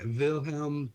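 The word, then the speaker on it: Wilhelm: willhelm is the pronunciate the proper pronunciation like vilhelm T oh you're you okay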